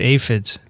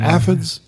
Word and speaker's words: aphids: There's a lot of aphids, or aphids as you call them. What's the right way to say it? Aphids are fine. Either or is a good pronunciation.